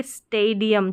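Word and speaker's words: stadium: फिर देखेंगे स्टेडियम। क्या है? स्टेडियम। तो ये ए लॉन्ग ए के रूप में प्रोनाउंस हो रहा है, पहले स्टे और फिर डियम, स्टेडियम।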